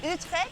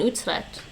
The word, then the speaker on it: Utrecht: The first is Utrecht.